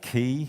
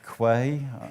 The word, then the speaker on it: Quay: Docker, Kubernetes, Helm, and Key, some people call it Quay. I call it Key because that's how it's spelled.